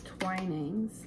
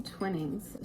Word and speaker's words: Twinings: I think it's Twinings, but I've been saying Twinnings.